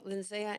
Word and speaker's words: Lindsaya: you Council okay speaker95 lindsaya hello can you hear me yes perfectly up to five minutes thank you and it's um I know it's spelled funny but my name is pronounced Lindsay so and I also